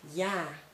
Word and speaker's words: ja: If you use a, you use it in a closed syllable, but if you use an open syllable, you should pronounce it as a, like ja, and that means yes.